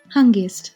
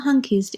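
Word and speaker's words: հանգիստ: Hungist. That's right. in eastern Armenian or hunkisted in western Armenian.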